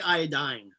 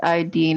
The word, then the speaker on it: iodine: pronounce it wrong no most people say i dying yeah that's what i say and i say iodine yeah you say it's iodine i know because it's chlorine